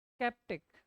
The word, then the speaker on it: sceptic: स्केप्टिक, है ना, SCEPTIC, स्केप्टिक, pronunciation क्या होता है? स्केप्टिक, ऐसे।